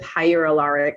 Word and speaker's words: hyaluronic: serum serum mixed with hyaluronic i'm saying it rhymes with with hydrochloric acid write that down burn